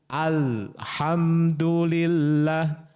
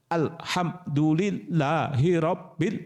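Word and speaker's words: الحمد لله: Maka di sini ee membacanya alhamdulillah. Enggak boleh kayak TPA zaman dulu ya. Alhamdulillahiabbil alamin. Nah, kalau dulu kayak gitu ya, TPA ya itu terlalu sidah itu ya.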